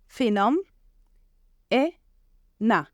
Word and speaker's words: phenomena: As we know, ph makes the sound f. And then we have n, o, m. Phenom, e, na. Okay, phenomena. So now it's time to play a game.